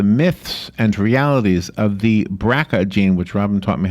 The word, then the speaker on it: BRCA: us about the myths and realities of the bracket een which robin taught me how to pronounce BRCA is what I would have said